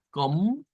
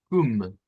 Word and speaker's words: com: Tendríamos dos pronunciaciones, una con una O nasal y una con una U nasal. O sea que esa puede sonar a com o como cum. Com o cum. Serían dos sonidos válidos en el lado de